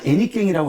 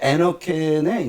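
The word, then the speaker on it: henequén: 사실 애니깽이라고 아까 잠깐 말씀하셨는데 이제 그게 이제 스페인어로 에너켄의 이제 그냥 우리식 발음으로 애니깽했는데 사실 그 김호선 감독이 1996년인가 만들어서 97년에 개봉시킨 영화의 제목이기도 하죠.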